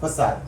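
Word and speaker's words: façade: चिटकून टाकले त्याला म्हणतात रॅप फसाद फसादच बोली ना ते रॅप फसाद स्पेलिंग आहे एफ ए सी ए सो त्याच्यामुळे हे असं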